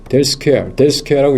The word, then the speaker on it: 델 스퀘어: 이걸 뭐라고 읽냐 하면은, 델 SQARE 델 스퀘어라고 읽습니다.